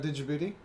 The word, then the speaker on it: Djibouti: Did you know the D in Djibouti is silent?